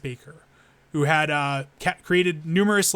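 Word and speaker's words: Hans Bacher: The most striking images from Hans Baker, I believe it's pronounced Baker, who had created numerous like thumbnails reminiscent of like National Geographic photography.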